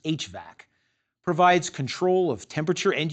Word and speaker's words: HVAC: The heating, ventilating, and air conditioning system, abbreviated HVAC and usually pronounced HVAC, provides control of temperature and humidity while also supplying fresh air.